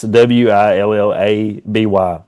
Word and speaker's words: Willoughby: It's Willaby. Willoughby. That's how it was spelled at some point back in that forever ago. Back before y'all started adding silent letters and shit.